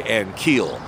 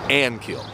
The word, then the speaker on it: Ankiel: They say Ankiel, which is incorrect. His pronunciation, correct pronunciation, is Ankiel. Accent on the first syllable.